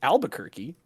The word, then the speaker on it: Albuquerque: to pronounce to OverWatch I didn't realize it was pronounced Albuquerque yeah neither die where is